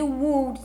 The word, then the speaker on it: would: Então aqui, por mais que tenha um W ou U, você vai fazer o som aqui de would, de U mesmo.